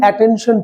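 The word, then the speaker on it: attention: সো আমাদের ইউনিটের নামটাই হচ্ছে, আমরা এটা বলি অ্যাটেনশন প্লিজ, বাট এটা কি অ্যাটেনশন প্লিজ? এটা হচ্ছে কি টেনশন প্লিজ। দেখো টেনশন, তার উপর কি দিতে হচ্ছে? স্ট্রেস দিতে হচ্ছে।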